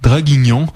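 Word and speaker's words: Draguignan: habitant ou nom bizarre dragingen on va le prononcer avec un accent français parce que c'est en France dragignon en France lui a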